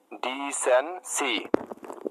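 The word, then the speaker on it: decency: সি ওয়াই সি, ডি সেন সি। এরকম ভাবে ভেঙে ভেঙে উচ্চারণ করতে হবে, ঠিক আছে?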